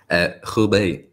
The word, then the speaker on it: Hubei: guys, COVID lockdown in the, how do you pronounce that area, Kian? Hubei.